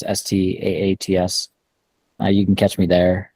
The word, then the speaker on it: Staats: Twitter is stats my last name is stats you can catch me